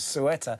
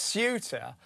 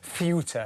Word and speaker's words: Ceuta: I called it sueta. Everyone it's sut. But if you want to be really Spanish, it's fut, you know, like espanol. But I'm not going there. That's that's a that that's a pronunciation. That's a foreign pronunciation too far for me.